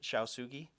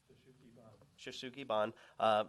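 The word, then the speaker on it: shou sugi ban: The house features, and Jared's going to be upset with the way I pronounce it, Shaosugi and vertical wood. What's the right way of pronouncing it? Shoshugi-ban, vertical wood siding with a metal panel at the parapet.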